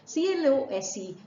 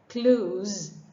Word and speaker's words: close: to tell you that c-l-o-s-e has two sounds to it sir and sir when you use it as a verb then it has the z sound and you would say Clues rhyming with rules oh and where it is used as an adverb or an adjective you pronounce it as close running with hoes here's this example the bear was so close you notice it rhymes with hose the band was so